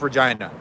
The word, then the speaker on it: Regina: "Yeah, it's pronounced Regina."